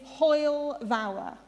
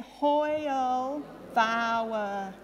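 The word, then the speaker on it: hwyl fawr: caden will take over so this word is hoyle vower we've got the lovely pronunciations underneath if you uh don't don't quite understand so let's see if we can all say it hoyle vower fabulous that's great and the reason i'm starting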